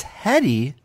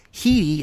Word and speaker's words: Headey: have mispronounced it as heady because the mispronunciation aligns with the spelling of the last name so we saw this